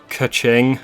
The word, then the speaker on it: Keqing: For Keqing, which I'm pretty sure that's how you pronounce this character's name, she does like sort of a disappearing, strong, flinging attack.